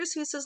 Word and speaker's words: Seuss: Seuss's last name is German, and the actual pronunciation of Seuss rhymes with voice. However, the American pronunciation rhymes with juice, and that is what has stuck.